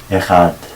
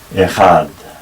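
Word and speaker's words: אחד: Shema Israel, Yahweh Eloheinu, Yahweh Echad. By the way, it's usual in Hebrew for the last syllable to receive the emphasis. So we say Shema Israel, Yahweh Eloheinu, Yahweh Echad.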